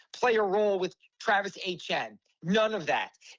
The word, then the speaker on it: Etienne: his whole life, and I have never heard it pronounced HN. So, we called him Travis ATN. When he was at Clemson, he played the national championship game here, and we have a lot of ATNs in Louisiana. So, but now calling him, I always have to catch myself, Travis HN, because obviously that's the way he pronounces it.